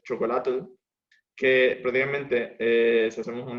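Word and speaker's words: xocolatl: Luego está en el náhuatl, están los alimentos, está el chocolate, que la pronunciación del náhuatl es chocolatl, que prácticamente, si hacemos un análisis morfológico, choco significa agrio o amargo y atl significa agua.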